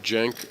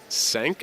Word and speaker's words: Cenk: Uh, Jenk did say uh it was pronounced much closer to the J and that was as close as I would be able to get to being as authentic with the pronunciation. So, Jenk Chachi is as close as I can get.